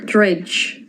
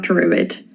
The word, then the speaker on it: druid: Dredge. Dredge. Not druid means close.